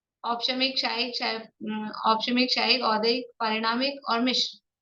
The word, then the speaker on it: औदैक: मौदैक शब्द नहीं है, शब्द है औदैक। और ध्यान रखेंगे, उच्चारण करते समय मैं स्पेशली ध्यान आकर्षित करा रही हूँ, तो ध्यान रखना है, औदायिक नहीं है, औदैक है।